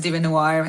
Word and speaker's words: DieveNoire: It's Larisa, and the band's name is Devinwahr.